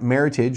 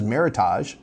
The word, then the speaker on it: Meritage: say Meritage nobody says Meritage but about the wine oh it's Meritage because it's French no it's not French it's an American made up word um anyway sorry got